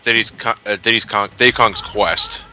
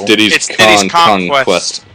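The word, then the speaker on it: Diddy's Kong Quest: And for the longest time, I've been pronouncing it as Diddy Kong's Quest. That's what I thought it was too. It's Diddy's Conquest. It's the pun on the conquest.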